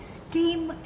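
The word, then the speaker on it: stem: एस टी ई एम स्टेम स्टीम नहीं स्टेम Hindi में हम जिसे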